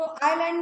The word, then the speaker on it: island: आइलैंड, तो आइलैंड में क्या साइलेंट है? एस, एस साइलेंट है ना?